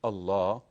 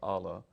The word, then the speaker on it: Allah: And I said, "First of all, you learned that God and Allah, or Allah, but we pronounce it as Allah, are the same."